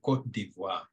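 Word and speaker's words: Côte d'Ivoire: Cote d'Ivoire. Edward's laughing. How do you say it, Edward? it's French, actually. Cote d'Ivoire.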